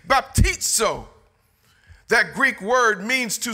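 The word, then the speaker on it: βαπτίζω: And so the Greek word baptizo, spelled with a Z-O, pronounced like T-S or T-Z, baptizo.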